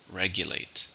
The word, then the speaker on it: regulate: and it's a verb how many syllables in regulate three stresses in the first regulate her mother strictly regulates